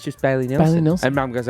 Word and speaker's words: Bailey Nelson: No, you said the name wrong. What did I say? You said Bailey Melson. Hey, to be fair, he couldn't read the name. To be fair, I took Mum to Bailey Nelson.